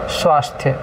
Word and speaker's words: स्वास्थ्य: ठीक है बेटे आगे देखो स्वास्थ्य शब्द है स्वास्थ्य तो स्वास्थ्य ही सही शब्द है सही उच्चारण है वर्तनी भी सही है और स्वास्थ्य नहीं होता उसमें पूरा स आ